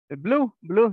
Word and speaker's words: blue: Digo, la profesora se pronuncia la U, porque la segunda vocal se puede silenciar. Blue.